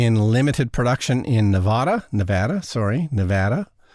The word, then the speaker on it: Nevada: Nevada is the correct pronunciation.